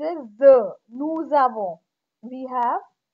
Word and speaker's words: nous avons: Nous avons, here we made the liaison. When s is followed by a vowel, s is pronounced as the. Nous avons, we have.